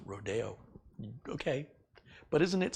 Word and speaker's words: Rodeo: Rodeo Drive? Don't say that. It's Philistine. It's Rodeo.